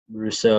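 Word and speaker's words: Rousseau: could see is them going ed rusher gregory russo is that how you say it yep he's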